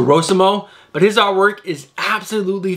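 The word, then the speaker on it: Rossmo: I say Rosimo because it's an O, not a U. So Rosimo.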